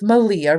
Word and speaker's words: Malia: I passengered out with Malia rhymes with Maria of the of the